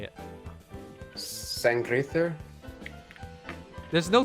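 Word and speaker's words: Sanngriðr: Sangrither? There's no T. Oh wait, no, that's how it's pronounced. it's like It's like TH. It's the like O looking thing is like a TH.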